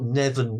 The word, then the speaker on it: Neven: Neven. Yes, This that's how it's very pronounced.